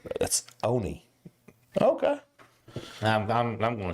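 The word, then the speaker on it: Onia: Shirley M the town how would you pronounce o n i a Ona exactly we had exactly we had Miss Tabitha that used to be the proprietor of the do B she says it's Onie it's not on we we stopped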